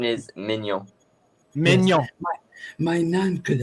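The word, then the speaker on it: Maignan: Most English people go Magnan. No, They say Magnon. Magnon. My nan. But the real pronunciation is Mignon.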